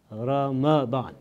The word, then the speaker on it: Ramadan: this amazing month called Roma Bahn the correct pronunciation of this month is Ramadan some people say the ROM bond is much